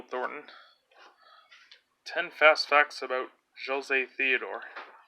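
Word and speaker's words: José Théodore: is against Jill Thornton ten fast facts about Joe's a Theodore it's pronounced Joe say T door there you go case you weren't sure nicknamed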